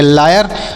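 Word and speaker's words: lawyer: ऐसे याद रखिएगा इसे एल ए डब्लू वाई ई आर तो एल एल से लॉ ए से आ की मात्रा डब्लू से डब्लू से याय डब्लू का उच्चारण नहीं होगा वाई से य आर ई से सॉरी ई आर से र तो इसे लिखेंगे लायर और लायर मतलब होता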